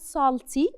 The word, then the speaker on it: salty: وهنا letter A اللي موجود عندي is pronounced as O. So it's not sa, it's not salty, it's so. Salty.